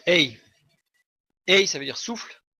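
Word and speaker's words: ה: La lettre se prononce Ei.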